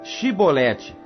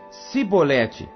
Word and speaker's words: Shibolete: Então lhe diziam: Dize, pois, Shibolete. Porém ele dizia: Sibolete, porque não o podia pronunciar bem.